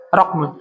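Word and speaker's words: رقم: dengan m fathah huruf qf roqam gitu ya memfathah huruf qof wasihatha rqmin wasihatha rqmun wasihatuha rqmun wasihatha rakmun dan pengucapan yang benar adalah rakmun pengucapan yang benar adalah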